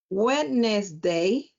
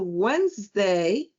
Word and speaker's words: Wednesday: of the words because if you say wetness day instead of Wednesday, your kids are going to keep saying wetness day for the rest of their life.